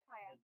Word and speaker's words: KYA: Kaya, is that the pronunciation? Yep, Kaya.